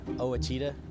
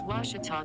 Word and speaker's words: Ouachita: get good grades i've heard people say oh a cheetah oh wish tall oh a cheetah is it pronounced searching for washi at a baptist university back in texas everybody pronounces it wichita but really it's ouachita washington washington how would